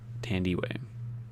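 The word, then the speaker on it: Thandiwe: will say it right tandy way handy way it sounds like candy way uh the circle is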